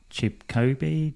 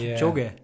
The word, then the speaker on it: Kipchoge: The marathon runner, is it Chipkobe? Oh, I'm going to pronounce that really wrong. Which one? Have a go at it. Kipchoge. Kipchoge. Sorry, got my pronunciation wrong again.